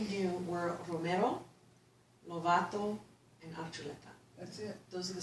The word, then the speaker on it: Archuleta: Archuleta is the actual Basque pronunciation Archuleta.